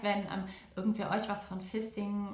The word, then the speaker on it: Fisting: Das heißt, wenn irgendwer euch was von Fisting oder Feisting teilweise ausgesprochen oder Fisten erzählt, dann könnt ihr davon ausgehen, dass die Person in irgendeiner Weise Pornoerfahrung, also meistens Pornoschauerfahrung hat.